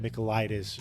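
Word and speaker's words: Michailidis: And I think it's pronounced Micheleitis because the guy's Greek. He calls himself the Spartan. And I'm just going to assume that Micheleitis rhymes with Leonidas.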